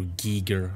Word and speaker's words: Giger: So I keep saying Geiger, even though I know it's Giger.